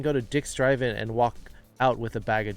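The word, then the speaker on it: は: an excellent question the wa is the letter ha in japanese however when it's used in this grammar point to mark the subject it is pronounced like a w but everywhere else it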